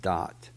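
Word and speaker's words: דעת: Hebrew word dot da ' eighty but it's pronounced dot sometimes looks like it would read daft but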